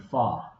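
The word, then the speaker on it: 发: And she talks about how the pronunciation for the word 8 or ba sounds like the word fa, which is the first character in the words of fazan, development, and fakai, to become wealthy.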